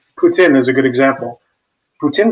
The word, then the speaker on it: poutine: I did not have that, but I did have poutine. Did I pronounce it correct?